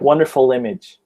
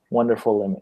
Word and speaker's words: wonderful: and wonderful wonderful wonderful but if you're going to say like I don't know another word after that that starts with a vowel hmm like thank you like wonderful image wonderful image yeah then you have to say the L because you have to like attach the L to the next sound and say it right